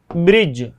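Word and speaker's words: bridge: जैसे शब्द और बताऊं, जैसे जज वाला हो गया तो इसमें आप देखिए ब्रिज, ठीक है ना, जैसे ब्रिज हो गया तो इसमें जी से पहले डी आया तो इसका प्रोनाउंसिएशन, इसको प्रोनाउंस नहीं किया जाएगा।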